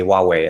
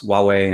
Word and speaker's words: Huawei: the way we say Huawei as a because it's it has an H in the beginning but we pronounce as if it has a w right so anyways he